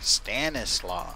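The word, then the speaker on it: Stanisław: You can say it like an American. Stanislaw. You pronounce every single letter.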